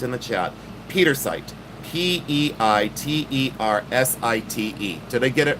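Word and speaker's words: pietersite: So in your Petersite, this is what you want.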